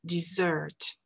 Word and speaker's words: dessert: En français, on dit S, dessert, mais en anglais, on dit Z, dessert, dessert.